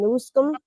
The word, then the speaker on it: Newsom: So now we have Donald Trump saying Governor Gavin Newsom.